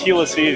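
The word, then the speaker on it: helices: Not employing the Greek root pronunciation of helix is helyses.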